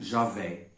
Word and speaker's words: Javé: Y, H, W, H. São relacionados ao verbo hebraico de ser ou existir. Podemos pronunciar como Javé.